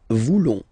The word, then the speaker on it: voulons: Then for nous, classic ending, O-N-S, don't pronounce the S, just pronounce the on. Nous voulons.